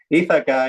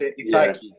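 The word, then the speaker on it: Ιθάκη: Ithaca is the English word. For the Greek language is Ithaki.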